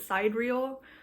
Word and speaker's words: sidereal: Aries season meanwhile the sideral I don't know if I'm pronouncing that right I think I've heard someone pronounce it side real but I don't like that so I'm going to be saying siderial um sorry complain in